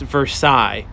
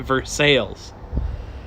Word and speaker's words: Versailles: In Kentucky, there's a town, it should be pronounced Versailles, like in France, like the Versailles Treaty, but they pronounce it phonetically, so they call it Versailles.